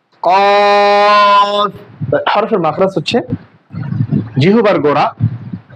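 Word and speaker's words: كاف: জিহ্বার গোড়া থেকে মাখরাজটা হচ্ছে জিহ্বার গোড়া থেকে একটু আগে বাড়াইয়া, কাফ।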